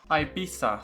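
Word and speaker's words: Ibiza: Ibisa. Sorry, that's actually how I should pronounce it.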